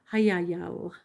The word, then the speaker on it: Hayayal: That is how you pronounce the angel's name. Hayayal.